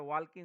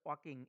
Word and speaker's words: walking: অনেকেই কিন্তু এটা ওয়াল্কিং উচ্চারণ করে, এটা হবে ওয়াকিং, এল এর উচ্চারণ হবে না।